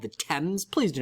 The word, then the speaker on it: Thames: connects London to the sea is called the Thames please do not pronounce it Thames unless you want a British bartender to give you a really weird look uh the Thames folks and then the famous river in Liverpool